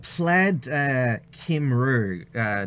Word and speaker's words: Plaid Cymru: So Plaid Cymru, Dr. Olga, that's how it's pronounced according to them.